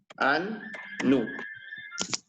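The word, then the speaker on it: annus: Cuando tienen dos letras juntas se van a pronunciar separadas. Por ejemplo, la palabra año se escribe annu y se pronuncia annu.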